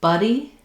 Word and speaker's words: buddy: So between buddy and body, a body, my jaw is more open, my tongue is more pushed down. BB buddy, my tongue is more flat, central in my mouth, and I have that schwa sound.